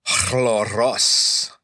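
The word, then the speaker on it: χλωρός: Hippos chloros. This chloros would be transliterated as c h l o r o s. And that's a a long o the omega in the first instance there.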